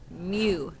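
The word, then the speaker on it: μ: One of them is the Greek letter M, pronounced U with an M in front. Mu.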